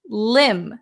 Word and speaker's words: limb: the next one is limb limb silent be a limb is very